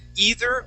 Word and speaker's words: either: th sound here the word is you can pronounce it either or either okay um either way is okay